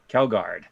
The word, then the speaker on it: Kjeldgaard: Ooh, his name is spelled Kjeldgaard, and Sean thinks it's spelled or pronounced Kilgard. Kelgard, yeah. Kelgard, Steve Kelgard, and so